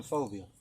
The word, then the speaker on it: Fobiah: i am i'm phobia that's that's phonetically if you were to spell it that's f o b i a h i'm a rap rapper